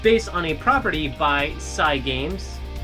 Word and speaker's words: Cygames: It's based on a property by Cygames. I believe that's how you pronounce the name, Cygames. Because, I feel as though Cygames is a contraction of Cyber Games.